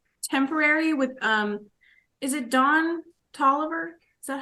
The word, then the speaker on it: Don Toliver: two it's um temporary with um is it Don Toliver is that how you pronounce it yes down to Oliver love that song I think that's a banger